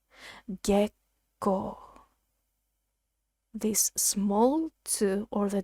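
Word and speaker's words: 月光: this word is pronounced gekko gekko this small two or the double letters when we transcribe it into romati is a tiny small pause before the second syllable so gekko moonlight you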